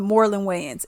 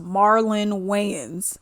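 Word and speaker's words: Marlon Wayans: whole thing right so we got my homeboy Morin ways and yes I know it's pronounced Marlin way but I like saying W okay so we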